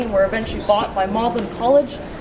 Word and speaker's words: Magdalen: have any money and were eventually bought by modlin college F Magdalene pronounced mlin that's Med pronunciation and turns during